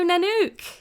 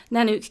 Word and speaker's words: Nanouk: today we're talking about search engine optimization hello nanuk hi Martine so good to have you here can you sort my sort out my pronunciation of your surname H yes sure it's nanuk ven I love that g that's brilliant so